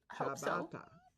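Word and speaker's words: ciabatta: make your B bread are you doing dishes pronounced chabata chabata oh okay chabata are you doing dishes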